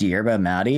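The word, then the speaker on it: yerba mate: Pronounced yerba matti. It's a South American tea which is different form of caffeine.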